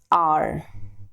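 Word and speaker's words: hour: अब अगेन जब आप ऑनेस्ट को प्रोनाउंस करते हो तो अ से हो रहा है, तो आर को जब आप प्रोनाउंस करते हो तो हार तो बोलते नहीं हो, आप आर बोलते हो.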